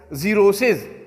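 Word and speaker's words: xerosis: Like जीरोसिस, dryness जो खुश्की है, तो जी एक्स है लेकिन जी का आवाज़ देता है।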